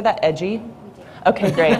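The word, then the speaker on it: EDGI: her work um oh yep in edgy is pronounced edgy archiving data and environmental enforcement watch she focuses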